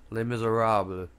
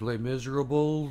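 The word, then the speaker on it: Les Misérables: it, he can't pronounce the title of Les Mis. So it's Les Miserables. Alright, he's like, Les Miserables. Like, he says it like 12 Probably different didn't say fucking ways. Less miserables.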